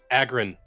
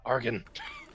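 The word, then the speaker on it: Agrun: Also, it's Agrin, not Argon.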